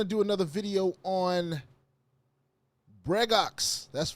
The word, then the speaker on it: Bregox: We're going to do another video on Bregox.